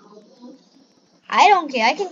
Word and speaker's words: Roblox: It's Roblox, not Roblox. I don't care, I can pronounce it however I want.